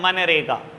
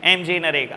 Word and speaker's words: मनरेगा: दिया गया एमजी नरेगा, लेकिन हमेशा हम प्रोनाउंस करते हैं मनरेगा, कोई नहीं बोलता बेटा ऐसे एमजी नरेगा, सब बोलते हैं मनरेगा, ठीक है।